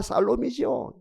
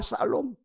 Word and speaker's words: 샬롬: 인사합시다 아기 예수는 우리에게 평화를 주셨습니다 아 여호와 살롬이 발음이 좋으면 좋은데 죄송해요 기가 막힌 발음인데 여호와 샬롬 아기 예수는 우리에게 살롬 주신 많은 거 주신